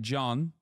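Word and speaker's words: Can: in and of itself C A an is spells uh that's how it's spelled and you read it like John okay John BBA John well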